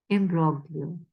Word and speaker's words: imbroglio: turmoil and an unhappy imbroglio. Imbroglio, I think G is silent, yeah.